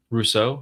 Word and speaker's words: Rousseau: Jets115 became a YouTube member, and Rousseau became a YouTube member. Rousseau? I don't Is that know. how you say Sometimes it? it's Rousseau.